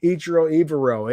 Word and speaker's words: Ejiro: You may not be able to pronounce the man's name, just said Ejiro. It's actually a very simple name to pronounce. It rhymes.